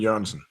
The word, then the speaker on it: Jørgensen: My real name is pronounced Jørgensen, which is Jørgensen. Okay, I fucked it up.